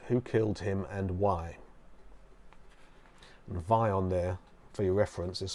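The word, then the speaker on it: Vyon: space security service who killed him and why vion there for your reference is spelled V Y o n the googling by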